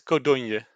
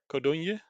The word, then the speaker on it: Codogno: It's Codogno. Codogno.